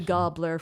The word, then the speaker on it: Gabler: do some research and I've concluded that gobler is more accurate to the Norwegian pronunciation of the name so I made a decision an executive decision that it will be gobler for this so I'm